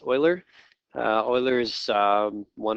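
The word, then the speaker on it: Euler: uh Garrett okay so maybe we've heard of Oiler before it looks like uler but it's pronounced Oiler uh Oiler is um one of the most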